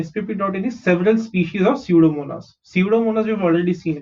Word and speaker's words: Pseudomonas: Spp dot is several species of Pseudomonas. Pseudomonas we've already seen, right? That's why I'm not explaining the pronunciation. Okay, यहाँ पे p silent होता है, s से start करो pronounce करना. Pseudomonas.